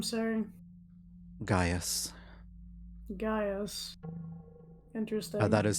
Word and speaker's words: Gaius: Gaius. Interesting. That is spelled Gaus.